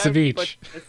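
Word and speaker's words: Savjz: It's pronounced Saveech. It's pronounced Saveech, yeah.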